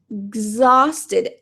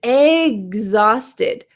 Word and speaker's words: exhausted: a little more realistic the common sound here is ex I had an ex exhausted exhausted it kind of sounds like something that you eat an egg I had an exhausted